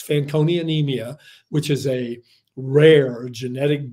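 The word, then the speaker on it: Fanconi anemia: life he has and you you uh correctly pronounced it it's fancon anemia which is a rare genetic blood disorder that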